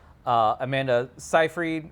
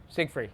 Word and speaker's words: Seyfried: The main stars are Lindsay Lohan, Rachel McAdams, Amanda Seyfried. Is it how you pronounce her name? Siegfried. There's no G in it.